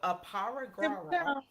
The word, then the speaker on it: Aparigraha: for y'all, and then I'm gonna try to pronounce it. It's AparigrahA. Yeah. So aparigrahra.